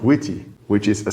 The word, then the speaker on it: Wt: use a web framework such as WT pronounced witty which is a c